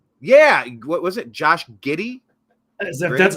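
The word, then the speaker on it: Giddey: basketball player name yeah what was it Josh giddy that's how you pronounce his name yeah it's g d g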